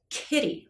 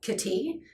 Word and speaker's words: kitty: the emphasis where the stress is in the pronunciations of the word kitty it has stress on the first syllable is kitty right and if you pronounce it kitty that's a completely different bird that's wrong right so this is again